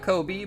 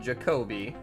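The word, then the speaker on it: Ja'Kobe: Not Kobe, but Jacobe.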